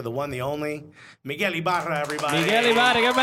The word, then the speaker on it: Ibarra: I was about to say Miguel Ibarra, but they didn't say that. They pronounced it Miguel No, Ibarra. but it's a little challenging rolling those R's for some we people.